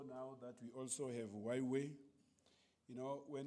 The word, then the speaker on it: Huawei: that we also have Huawei. You know, when Huawei came into South Africa, we didn't know how to pronounce it. Up until somebody said it to me, just say why and way and combine it.